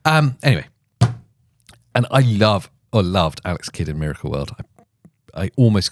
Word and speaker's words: Alex Kidd: Alex Kidd. It's not Alex the Kid.